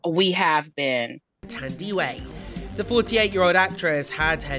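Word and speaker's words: Thandiwe: She said we were saying her name wrong. We have been. Tandy Way.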